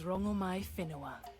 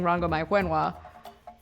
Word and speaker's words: Rongomai Whenua: My name is Rongomai Whenua. That's not what they were saying. They were saying Rongo, my Wenhua.